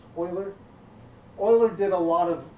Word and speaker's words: Euler: Looks like his name should be Euler, but it's not. He's pronounced Euler.